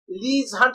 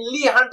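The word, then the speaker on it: Leigh Hunt: नहीं था, William Wordsworth, ली हंट, लीज हंट भी लोग कहते हैं लेकिन ली हंट एग्जैक्ट प्रोनाउंसिएशन है।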